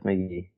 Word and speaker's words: Casey McGehee: By the way, the Giants just designated for assignment Casey McGehee. It's just McGee. Yeah, it's McGee.